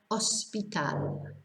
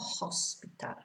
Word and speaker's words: hospital: So we've got hotel, ahora, hospital, not hospital.